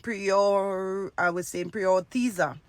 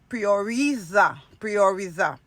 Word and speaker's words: prioriza: And I was saying prioritiza when it's prioriza.